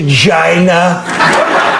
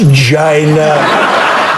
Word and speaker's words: China: pronunciation they're going to Jaina China China China China China China Alec Baldwin's Trump was like a bull in a china shop it's pronounced China Jeanne Moos CNN China